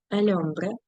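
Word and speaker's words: hombre: сомас матрімоніо ми подружжя ельмбре х не читається чоловік ну ось же ж чоловік м як мужчина одружений неодружений Немає значення Марідо одружений.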